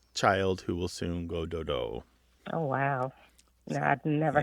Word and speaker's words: dodo: So sometimes it's dodu, D-O-D-U, but usually it's D-O-D-O, dodo.